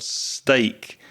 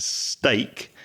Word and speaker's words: steak: Be careful of the difference between the pronunciation of steak, which is meat that you eat from a cow, and stick, which is a piece of wood. So stick and steak.